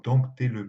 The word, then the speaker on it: dompter: Par exemple, aujourd'hui, on dit encore dompter les mœurs. Alors ce P qui n'a jamais été prononcé dans la langue ancienne, pour ainsi dire, rentre encore dans la prononciation, ainsi que le S